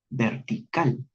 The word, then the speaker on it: vertical: Observarán que la última palabra es vertical y que en la palabra vertical el tiempo marcado cae justamente en la sílaba cal, vertical.